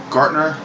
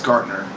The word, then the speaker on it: Gartner: Gartner. Pretty sure, I'm hoping I'm saying his name right. Got that little T in there. It's kind of hard for me to pronounce Gartner, but he was watching